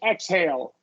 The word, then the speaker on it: exhale: yeah I wanted uh the exh followed by about exh followed by about that that's going to make the X the gz right exhilarating exhausting the only uh exception is exhale okay inhale exhale exhale KS yeah then it's the ks exhausting yeah exhausting yeah